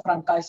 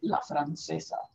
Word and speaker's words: La Francesa: Dice, no se dice francés, se dice la francesa.